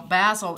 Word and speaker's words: Bazzill: but it's pleated well basil is the name of a brand um and it rhymes with razzle to bedazzle someone is